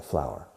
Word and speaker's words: flour: Se escribe flor, pero se pronuncia igual que flor. Una flor. Pero siempre en singular, por supuesto, porque es incontable, flour.